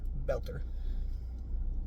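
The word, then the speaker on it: Boelter: Um, and then Bolter Belter. I don't know how to say his name. B O E L T E R. Belter.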